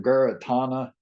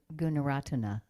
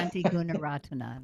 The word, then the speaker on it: Gunaratana: I forgot how to pronounce the last name, Guratana. Um, some of his books, Meditation on Perception, Oh, and I would really like to I think you probably mean Gunaratana. Guratana, yeah, Bhante Gunaratana.